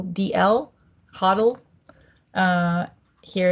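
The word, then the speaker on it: HODL: before the L as hold h o DL hoddle uh here it's like Biddle ble Gill learn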